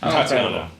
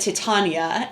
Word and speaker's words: Tatiana: Tatiana. Yes, but he said Titania, and I was like, "Girl, come on!"